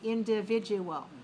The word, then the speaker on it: individual: IN dot, DI dot, VI dot, VID dot, U dot, AL. So how many dots are there in that word? There are 4 dots, so that means there must be 5 syllables, right?